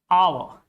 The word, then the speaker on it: hour: Similarly, in this case, there are some words in rule number nine, there are some words in which the sound of H is silent. Like in the word honest, hour, honor, heir.